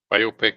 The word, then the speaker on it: biopic: As Biopic does not rhyme with myopic.